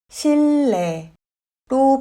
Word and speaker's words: 실내: 실내는 실내로 발음합니다.